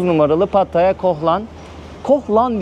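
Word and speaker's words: Koh Larn: numaralı pataya koh lan koh lan diye okunuyor diye biliyorum ama yazılışında larn o şekilde bu Tek yön Bu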